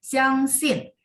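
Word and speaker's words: 相信: 相信 Sin, jangan biarin dia naik Ibu. Jadi tekan ada 4 ya di belakang. Xiang sin.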